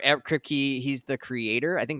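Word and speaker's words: Kripke: superheroes and Society the boy season 4 ER kpy he's the Creator I think that's how you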